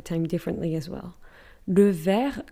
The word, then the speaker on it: vert: Le vert, V-E-R-T, is green. For instance, a green t-shirt, un t-shirt vert. But it's with a T at the end, we just don't pronounce it.